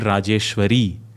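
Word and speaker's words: राजेश्वरी: The feminine, if it's for Bharat Mata, it should have been Rajeshwari, but it says Rajeshwara because the Rajeshwara is for Bharat. If he used Bharati, Bharata Mata, he would have used Rajeshwari.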